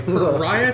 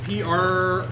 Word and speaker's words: Pyrrhic: So I will offer you a hard bargain or ugly choice, or a pariah victory, apparently. Ooh. No, pariah, I think. Pyrrhic. P-Y. It's pronounced Pyrrhic.